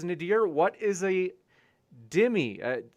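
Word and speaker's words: dhimmi: snake was right says nadir what is a dimmy uh it's they spell it d-h-i-m-m-i me uh yeah so basically this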